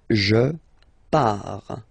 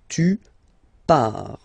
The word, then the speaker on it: pars: So the first form is je pars. So final S not pronounced, je pars. Tu pars, same form, you can see here and here. So final S not pronounced, tu pars.